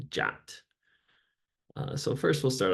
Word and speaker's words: JWT: Json web tokens um or JWT pronounced jat uh so first we'll